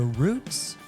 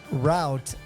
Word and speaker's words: route: Your roots or your routes? Even the word route has two pronunciations, root and route.